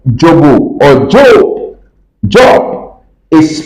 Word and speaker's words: Dzobo: Dzobo is spelled D-Z-O-B-O.